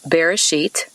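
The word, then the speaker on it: בראשית: you about that word beginning in hebrew it's pronounced bereshit and as i mentioned before in these talks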